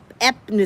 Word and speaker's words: Epsom: Epsom salt.